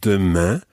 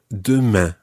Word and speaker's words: demain: And it's really important that you try to get that nasal sound at the end of demain. Demain. Demain. Demain. Très bien. It's not à demain and then leave it open. You've got to finish it off with a nasal sound.